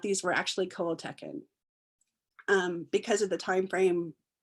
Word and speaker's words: Coahuiltecan: So that became really interesting, because literally when I started trying to learn how to pronounce Coahuiltecan and sometimes people will say Coahuiltecan, so there's a little bit of variance in it, but it really taught